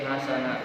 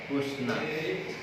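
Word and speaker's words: حُسْنًا: Jadi bacanya bukan wa qulu linnasi hasana, tapi wa qulu linnasi husna.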